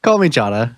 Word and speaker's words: Kalmychata: It is Machhata. Is it right? Is it half right? Call me Chada is gen is what how I say it. Maybe there's a better pronunciation out there.